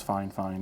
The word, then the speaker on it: FIFINE: or five years didn't even realize it was fine fine and that is how it's pronounced by the way um I asked Ted